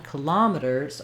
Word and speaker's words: kilometers: and the length, kil, and then our letter O, instead of an ah, in this version, kilometers, or in kilometers, it's going to be reduced to the schwa, killa.